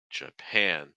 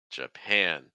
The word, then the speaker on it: Japan: to be Japan Japan notice the first syllable is a schwas sound so it's not J J it's j j j and then you have that ass sound plus a nasal once more an an Japan Japan Japan okay so let's